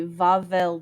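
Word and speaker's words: Wawel: good at it yet it's spelled w-a-w-e-l but in polish w's are v so vavel dragon its other name are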